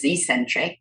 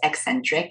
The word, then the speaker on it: eccentric: it's eccentrically loading and I got pulled up on that pronunciation A while back I thought it was Ecentric but it's not it's eccentric I checked the Cambridge and Oxford dictionary it's eccentric eccentric loading of that